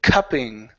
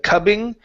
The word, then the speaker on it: cupping: one here is the word cupping right here instead of cubbing cup cup cupping cupping